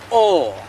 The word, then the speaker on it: og: So it's O, right? O. And here it's everywhere with the infinitive verbs. Å være, å snakke. Even when you try to say and, OG, right? Og, it's pronounced O.